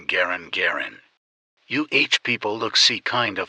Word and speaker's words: Garand: He actually pronounced his name Garand, but everybody calls it Gen, right, kind of like carbine, Garand.